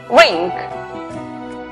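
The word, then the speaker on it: wring: La palabra torcer, que se escribe la W antes de R al comienzo, es muda. Por lo tanto, la pronunciación es rink.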